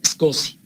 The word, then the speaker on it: SCSI: Se escribe SCSI, pero se pronuncia SCSI.